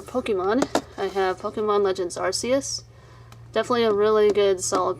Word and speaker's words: Arceus: legends arceus and that is actually how you pronounce arceus that's the correct way rps is not correct arceus is the original pronunciation and yes so anyways